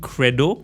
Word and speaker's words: Qredo: that the right thing to say, was probably Credo, which I believe you also invested in.